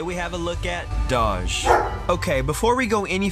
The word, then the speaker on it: Doge: the way to pronounce Doge. Some people say Doge, like saying the word dodge without the D, while others are convinced it's Doge, pronounced in a way that would rhyme with the word Vogue.